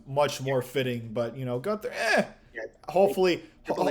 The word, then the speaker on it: Gunther: I don't know how to pronounce his Yeah, name, you got it. but It's Gunther.